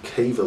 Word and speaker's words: Cavill: The current Superman is an actor named Henry Cavill, or Cavill, however you want to pronounce his surname, who has played the